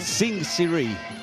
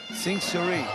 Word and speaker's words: Sing Siri: How do you pronounce his name? Sing Siri. Sing Siri.